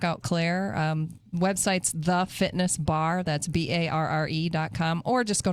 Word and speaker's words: barre: And her and I kind of launched a thing together called Bar Fitness.